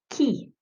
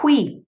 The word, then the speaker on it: qui: Ça se prononce qui. Not qui. No qui. It's key, like a key to car, to your house.